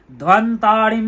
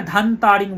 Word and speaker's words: ধ্বন্তারিম: ওম জবা কুসুম সংকাশম কাশ্যপেয়ম মহাদ্যুতিম অনেকে এখানে ধান তারিং বলেন, ব আছে, ও আছে না, দুটো ব, একটা বর্গীয় ব, একটা নর্মাল ব।